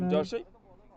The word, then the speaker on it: Namjoshi: Good, Namashi is the new batter. Yeah, I know. आणि Kamod नामजोशी batting करणार Should आहे. say it is ग्लेनला face pronounced करणार. Namjoshi. Left out the J there.